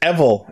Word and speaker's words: Evil: from Ganba Rising, and apparently it is pronounced Evil, as in the word devil without the D, which makes sense.